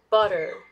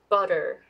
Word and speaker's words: butter: is American sure uh and then this one butter butter okay so let's go back to this one this one is pronounced batter batter and this one is